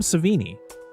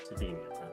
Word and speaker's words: Savini: his name correctly so how do you say it it's Tom savini savini okay I mean at